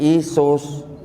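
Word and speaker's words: Ἰησοῦς: Orang Yunani membacanya sebagai Iesous.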